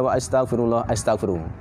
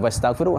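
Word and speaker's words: وأستغفر: Qulu qauli hadza wa astaghfiru. Bukan wastaghfiru, hamzah mutakallim, hamzah qata. Wa astaghfiru bukan wastaghfiru. Kalau istaghfara, kalau fi'il madi bacanya wastaghfara, ini wa astaghfiru fi'il mudhari'.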